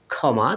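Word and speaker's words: ক্ষমা: যুক্ত খ রয়েছে বন্ধুরা যদি শব্দের প্রথমে খি বা যুক্ত খ থাকে তাহলে সেটার সাউন্ড কিন্তু খ বর্ণের মত হয়ে থাকে বন্ধুরা যেমন দেখুন খমা তা এটা উচ্চারণ কিন্তু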